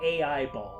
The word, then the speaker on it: Aiba: And now he has AIBall. Uh-huh. An artificial eye that can It should be they do pronounce it in the game AIBall. Now, he has AIBall. Aiba. Her name is Aiba.